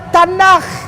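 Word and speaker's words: תנ״ך: Dibacanya Tanakh.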